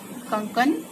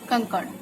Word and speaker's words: कंकण: कंकन, कंकन का सही उच्चारण है कंकण, शुद्ध रूप ये है।